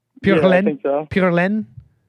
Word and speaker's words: pure laine: You said, "Is Greg pure Alin?"